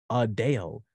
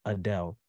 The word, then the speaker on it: Adele: The correct pronunciation is Adele, not Adele.